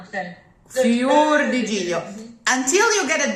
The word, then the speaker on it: fior: Fior, Fior, closer to a U. Closed O's are closer to a U. Okay. Fior di giglio.